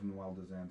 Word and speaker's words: Duendelvin: But from the creator's mouth, it is pronounced Duendelvin.